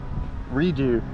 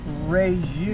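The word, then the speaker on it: Rieju: Redo. Did you say redo or Redo. I believe it's pronounced reju. This is Spanish.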